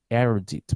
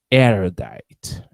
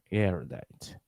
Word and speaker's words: erudite: do i pronounce this i think it's errdit but i'm not sure let me copy that and put it in the dictionary erudite erudite the english pronunciation is tricky sometimes the erudite what does